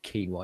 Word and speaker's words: quinoa: The day I look at quinoa, not quinoa, it's not pronounced fucking quinoa, it's quinoa.